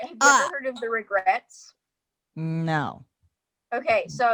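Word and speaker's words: The Regrettes: All right, have you ever heard of The Regrets? No. Okay, so it's spelled like they spell it differently. It's REGRETTES, but they're like totally Okay.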